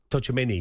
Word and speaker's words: Tchouaméni: Tchouaméni.